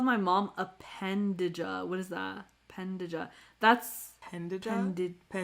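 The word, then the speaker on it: pendeja: Pendea. Sorry, J. Yeah, the J is like a Y.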